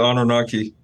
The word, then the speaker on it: Anunnaki: What's the best way to pronounce this, man? I'm always having trouble. The Anunnaki.